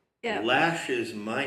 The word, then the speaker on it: Loesch: they have her name, Wikipedia usually has in brackets the pronunciation of something. It gives you the pronunciation of her name in the traditional, the standard notation, and then it has in capital letters Lash.